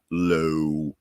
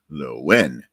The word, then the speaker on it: Lohan: is actually pronounced not Lohan or Lohan. The H is essentially silent. It's Lowen.